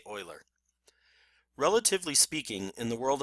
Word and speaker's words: Euler: that it is pronounced Euler not Euler because it is a very important mathematicians name I expect you to pronounce it as correctly as is possible in English and say oiler relatively speaking in the